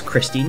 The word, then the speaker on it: Kristin: She's German, so it's Christine, but it's spelled like Kristin.